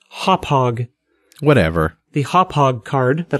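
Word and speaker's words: Hauppauge: I've got I was going to say Hopage, but I remembered last time that someone told me it was pronounced Hophog.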